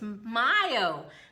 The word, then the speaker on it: Mayo: I keep saying Mayo. It's Mayo. Mayo means May.